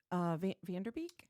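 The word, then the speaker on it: Van Der Beek: Dane, and then James Vanderbeek.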